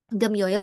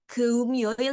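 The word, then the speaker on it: 금요일: Kenapa kok Gemyoil nggak Geumyoil gitu? Nah, jadi di sini itu memang secara latinnya adalah ya, tulisannya gitu. Cuma waktu dibacanya itu doang gitu. Jadi Geumyoil gitu, tapi Gemyoil aja gitu ya.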